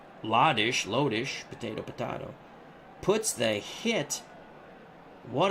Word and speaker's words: Lodish: Sire 0329 says Lodish was the right pronunciation. Thank you very much. Lodish.